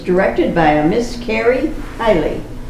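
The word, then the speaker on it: Beilly: It was directed by a Miss Carrie Hiley, B-E-I-L-L-Y, I think that's the way you pronounce it.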